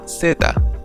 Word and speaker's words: zeta: finally we have the letter Z which is pronounced Zeta there is a slight buzzing sound coming from